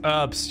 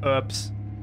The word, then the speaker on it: herbs: I actually pronounce it's herbs you just like get rid of the H right just say herbs so rabbit what happened